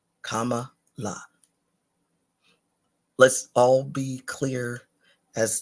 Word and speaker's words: Kamala: know say it properly um comma is the first part the last part is as you're singing La comma La let's all be clear